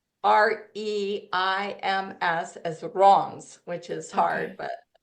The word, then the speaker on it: Reims: You pronounce Reims as Reims, which is hard, Okay.